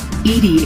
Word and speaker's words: EDI: are your name Edie Edie is the phonetic pronunciation of EBI that is an acronym